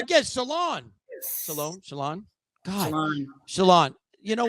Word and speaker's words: Sholon: And this week's guest, I'm excited, is Miss Sholon. Oh my God, I said it wrong again. Sholon.